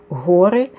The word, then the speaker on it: Ори: більш ніж одна богиня богині орей чи в іншому вимовлянні гори відомі нам з грецької